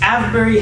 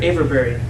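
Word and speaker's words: Avebury: uh pretty cool idea this is avery hinge or averberry depending on who you're asking about pronouncing now this uh henge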